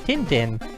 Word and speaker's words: Tintin: cool thank you spiffy sounds like tun tun tun tun but um yeah outside of France and people who don't speak French pronounce it Tim Tim like if you go watch the critically acclaimed adventures of tintin movie they all pronounced a tendon to really see